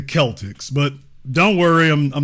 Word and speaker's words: Celtics: you it's everybody says Celtic but it's actually they are the Kelts go take a look at any documentary about Irish history and you'll clearly hear them say the k KS so the Celtics I know in America you're used to seeing that done with a K if it's really going to be hard about that in the C if it's going to stand in for an S but it's actually the Celtics but don't worry I'm